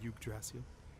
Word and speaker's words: Yggdrasil: That name sounds familiar, yeah, huh, Yggdrasil. Bill? It's a Tales of Symphonia joke. Yeah. The character Yggdrasil. Nice. Yggdrasil. It's pronounced Yggdrasil.